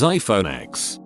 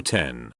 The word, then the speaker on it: iPhone X: what any calendar says pronounce iPhone 10 as iPhone x if you wanted me to pronounce it as 10 you should have used 10 not X I have never heard